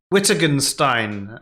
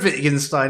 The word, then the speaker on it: Wittgenstein: like to say uh not whittergenstein as how i used to pronounce his name before i heard anyone else say it it was close enough